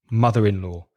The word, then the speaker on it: mother-in-law: Remember, you've got a consonant at the end of mother. There's a vowel sound at the beginning of in. So you've got that connecting sound thing that we spoke about recently.